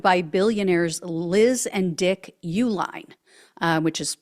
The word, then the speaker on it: Uihlein: billionaires Liz and Dick Uline uh which is spelled different than the company name but I believe that's how you pronounce it so this couple according